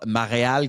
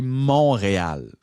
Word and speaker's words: Montréal: au 27 septembre là tu me prononceras pas ma réal comme Valérie Plante l' fait pendant 8 ans. C'est pas ma réal, c'est Montréal.